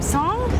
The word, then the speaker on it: Song: you pronounce his name song his name should be song but everyone calls him sing he here and the